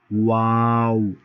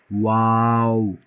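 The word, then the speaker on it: واو: তারপরে ওয়াও, একদম দুই ঠোঁট উচ্চারণের সময় গুল হয়ে যাবে, অর্থাৎ যখন এটা উচ্চারণ করবেন মুখটা এরকম গুল হয়ে যাবে। ওয়াও।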